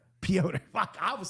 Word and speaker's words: Piotr: I think it's, would you say Petra? Piotr.